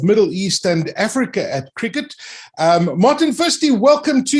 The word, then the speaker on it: Cricut: listen it's uh it's it's cricket as in the normal cricket game as i've been working